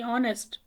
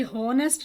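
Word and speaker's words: honest: और यहीं पर आप देखें कि ऑनेस्ट, ये हॉनेस्ट नहीं है, ये ऑनेस्ट है, यानी आपने इसको, ये साइलेंट है, यहाँ से पढ़ें ऑनेस्ट, इसीलिए यहाँ पर एन लगा है, ऑनेस्ट।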